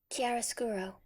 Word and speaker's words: chiaroscuro: here's how it sounds on Google you ready chiaroscuro quieres kuru chiaroscuro that is the name of